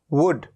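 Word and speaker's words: wood: एक एग्जाम्पल है वुड, ये है वुड, ऊ, ऊ। कैसे लिखा जाता है इसको? वुड, वो ड। तो छोटे ऊ की मात्रा, तो छोटे ऊ का साउंड आता है वुड।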